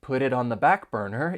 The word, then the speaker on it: put it on the back burner: on the back burner, you're going to hear me pronounce the final T in put and the final T in it as a flap T, because those T's come between two vowel sounds.